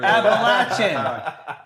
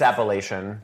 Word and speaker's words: Appalachian: He's been on that for Appalachin. Thank you. No, it's Appalachian.